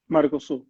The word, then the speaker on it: Mercosul: Because they have I'm going to pronounce it wrong, Mercosul, the southern market. Mercosul.